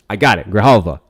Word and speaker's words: Grijalva: I want to say, is it Grijalva? With the H. Ah! I got it! Grijalva.